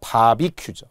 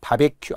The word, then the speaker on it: 바비큐: 바비큐죠. 바베큐 아닙니다.